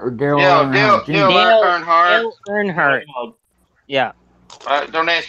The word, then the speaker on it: Earnhardt: Dale Earnhardt. Dale Earnhardt. Yeah. Don't ask me how to spell that, but yeah, Dale Earnhardt.